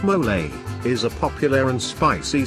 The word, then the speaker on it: mole: Mole, pronounced mole, is a popular and spicy sauce used to flavor Mexican meals, including enchiladas and quesadillas.